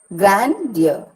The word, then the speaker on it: grandeur: Grandeur. Grand is stressed and ear is not.